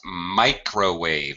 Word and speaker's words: microwave: Microwave. It's a micro. Microwave. Microwave. Any okay, microns, microscopic, microscope. Any of those micro words are it's a long I.